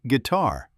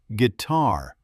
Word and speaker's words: guitar: Stress on the second syllable. Or police. It's police, not police. And guitar. Guitar, not guitar.